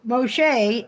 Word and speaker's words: Moshe: to tell me so Moshe is how you say Moses in Hebrew so she became Moshe